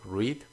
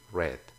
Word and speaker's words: read: hacer read para leer aquí solamente cambia la pronunciación read read y para comer e